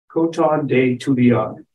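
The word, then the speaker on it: Coton de Tulear: koton de Tuli R koton day to Leon is a French word or a French phrase for uh cotton Madagascar where the breed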